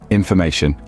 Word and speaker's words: information: let's try another one information and in foration the third syllable ma is where the stress Falls but stress doesn't just